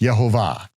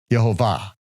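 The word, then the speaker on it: Yehovah: No, it would be pronounced Yhovah. Yhovah.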